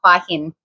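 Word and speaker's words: Hua Hin: Huah Hin.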